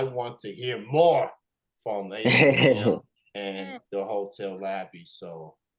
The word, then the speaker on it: AyeTeeM: AyeTeeM, and that is AyeTeeM. Yes, sir. Wow, it is pronounced after the thing that you go to get money off your cards and your accounts. It is AyeTeeM.